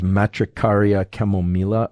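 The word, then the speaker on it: Matricaria chamomilla: chamomile I think the the proper pronunciation of this is matricaria chemomela although I always feel like I should be using a Spanish accent whenever I uh whenever I say something like that um other related things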